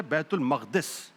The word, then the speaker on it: بیت المقدس: Normally لوگ کہتے ہیں، یہ لفظ غلط ہے، اصل لفظ ہے بیت المقدس، جو صحیح لفظ ہے۔ بدقسمتی یہ ہے کہ